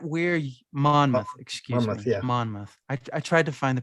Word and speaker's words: Monmouth: Monmouth. I tried to find the pronunciation. I couldn't find it. Yeah, there you go. Monmouth.